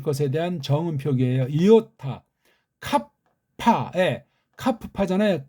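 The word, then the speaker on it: κάππα: 이오타, 카파, 카프파잖아요. 카파, 캅에서 한번 입을 꽉 물고 파에서 또 한번 물고, 물론 뒤에 파는 부드럽죠. 카파, 이렇게 알파 하듯이.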